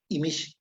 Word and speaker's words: Imix: Ok, en maya sí decimos Imish.